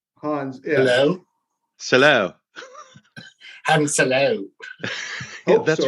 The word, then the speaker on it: Han Solo: It's Han Solo. Hans. Yeah. Hello. Solo. Han Solo. Yeah, that's right. That's how it's pronounced.